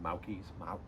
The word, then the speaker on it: Mauki: I don't know how to pronounce it. Mauki's, M-A-U-K-I.